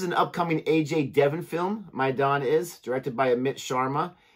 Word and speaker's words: Maidaan: And I'm looking at reacting to the trailer for the film, the teaser, excuse me, Maidaan, I believe is how you say it.